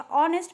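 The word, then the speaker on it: honest: यहां पर एच तो हम बोलते ही नहीं है। एच साइलेंट है। तो यहां पर हो जाएगा ऑनेस्ट means it sounds vowel.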